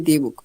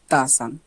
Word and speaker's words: the: ও ইউ এদের যেকোন একটা হয় তাহলে আমরা উচ্চারণ করব দি চলো দেখি একটু সো বুক বুক দা বুক নাকি দি বুক এই যে বি শুরুতে প্রথম অক্ষর এটা হচ্ছে